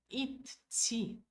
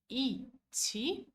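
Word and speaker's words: идти: Mas esse som de letra D não vai aparecer, tá? Não, nós nunca vamos falar id-ti. Fica muito puxado para a garganta. Vai ficar muito difícil de pronunciar, tá? Então falamos iti, tá? Igual iti de Haiti, né? Ou it-ti. It-ti, aceito mais, tá? Gente, é melhor. It-ti. ótimo, é mais polido, né?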